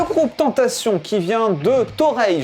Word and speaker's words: Torreilles: Le groupe Tentation qui vient de Toreil, je crois que ça se prononce comme ça, du côté de Perpignan, vient de sortir Le Berceau des Dieux.